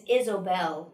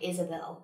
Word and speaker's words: Isobel: you say this and it's isobel not like isabel izobel like i-s-o-b-e-l yeah i don't even